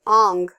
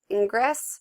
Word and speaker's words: Ingres: done by Jean-Auguste Dominique, Ong, and I know it's looks like Ingress, but it's you want to pronounce it like it's A-N-G, so that's why I left this one up, and so, yeah, another reclining nude.